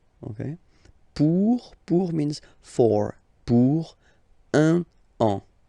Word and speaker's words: un an: Un an. Okay, so let's read it normally now. Il va partir pour un an. Okay, so you can hear that now I make this link between the two.